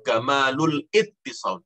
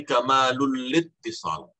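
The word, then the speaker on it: كمال الاتصال: Jadi kamalul lil ittisal, kamalul lil ittisal. Jangan kamalul ittisal, jangan. Tapi kamalul littisal, kamalul littisal. Ya, bacanya begitu.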